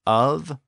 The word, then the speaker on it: of: some linguists think that a modern word like of o f it's one of those Stags the word was spelled the same way in Old English o f but its current pronunciation may be the same as it was in Old English and if so it's one of those words which retains the F for the V Sound by the way in